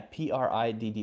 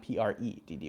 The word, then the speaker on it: pretty: like vowel sounds yeah pri DD wat why not PR e DD why look pretty right this one is about